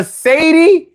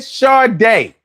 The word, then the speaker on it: Sade: And the whole fucking video, he called her Sadie, then he called her Sadi. He never once said Sade.